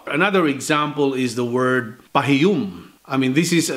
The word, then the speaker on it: pahiyum: The Cebuano intonation is a little bit harder than Tagalog.